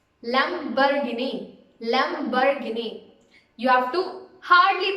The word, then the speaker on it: Lamborghini: It's Lamborghini. Lamborghini. You have to hardly pronounce that bar, so you can just say it as Lamborghini.